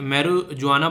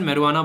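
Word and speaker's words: marijuana: हिंदी में वैसे इसे मैरुजुआना बोलेंगे, पर लेकिन इंग्लिश में प्रोनाउंसिएशन मैरुआना बोलेंगे, ठीक है।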